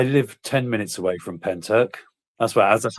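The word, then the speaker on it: Pentyrch: Um I I live 10 minutes away from Penturk. That's what that's how it's pronounced. Penturk.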